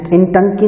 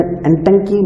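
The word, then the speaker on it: Ntangki: नागालैंड में है एंटंकी national park. कहीं कहीं पे ये आई हटा के लिखते हैं लेकिन आई साइलेंट है इसलिए एंटंकी नेशनल पार्क बोलते हैं इसको, ठीक है ना फ्रेंड्स।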